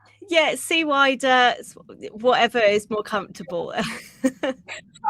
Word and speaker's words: CWIDER: Yeah, SWIDER.